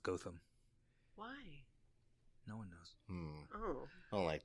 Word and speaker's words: Gotham: Gotcham? What is it? It's spelled Gotham, Yeah. like in Batman, Yeah. but it's pronounced Gotham.